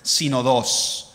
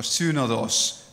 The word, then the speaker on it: synodos: And so this is a Greek word, synodos, or synodos, depending on how you want to pronounce the word.